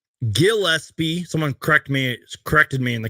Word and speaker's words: Gillespie: Now, I always get this last name wrong. Gillespie. Someone corrected me in the comments recently about that. I was calling him Gillespie.